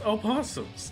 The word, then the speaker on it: opossums: Who pronounces the O in opossums? I pronounce the O in opossums. Come on. If you're spelling it opossums, it's opossums. If you're spelling it possums, then it's possums.